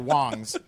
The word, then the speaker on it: Wangs: There's a company called Wangs. impossible to I think light it's down. actually pronounced Wongs, but Okay. it just says Wangs on the front, and they have.